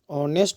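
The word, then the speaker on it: honest: तो लिखा हुआ है एच से शुरुआत हुआ, लेकिन इसको हम लोग अगर उच्चारण करते हैं, इसको पढ़ते हैं तो हो जाता है ऑनेस्ट हो जाता है।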